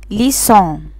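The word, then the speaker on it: leçon: عند وجود هذه العلامة يحتفظ السي بصوته الاصلي وينطق اس. ناخد اكزامبل، عندي ليسون، ليسون يعني درس.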